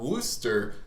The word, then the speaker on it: Worcester: So today we've got Paul Worcester, who was on, and did I pronounce that correctly?